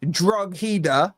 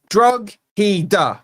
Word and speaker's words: Drogheda: Yeah, Drogheda, right? Don't give me the Drogheda, right? There's a G. You don't want the G pronounced, don't put the G in.